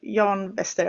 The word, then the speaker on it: Jan Wester: So Jan Wester, I'll say it in Swedish, but you know what I mean.